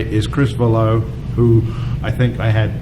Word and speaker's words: Valleau: However, in your defense, there's not even a complete agreement in my own family of how to pronounce it. So we get some Valleaus and some Vallows, but as long as it's the EAU, it's you're good.